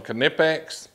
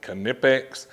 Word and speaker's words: Knipex: that just released from canipex that's right i said canipex there's a lot of